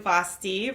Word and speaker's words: Vasthy: Hi, I am Vasthy, rhymes with Frosty.